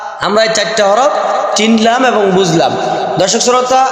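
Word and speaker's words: حاء: এটার যেটা নোক্তা নাই এটার নাম হলো হা, গলা থেকে উচ্চারণ হবে হা হা হা হা।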